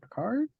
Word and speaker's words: Picard: This episode, I'm joined with former guest Vanessa Picard.